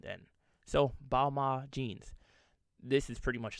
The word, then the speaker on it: Balmain: and apparently it's pronounced because the end is silent i did not know